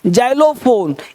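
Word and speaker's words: xylophone: देखो जैंथिक, इसको जैंथिक, जा भी साउंड होता है एक्स का, जैंथिंग, जाइलोफोन, एग्जामिन, एग्जाम्पल, एग्जैक्ट।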